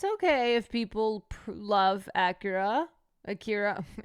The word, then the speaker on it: Akira: Akira. Acura. Why am I pronouncing it like the car?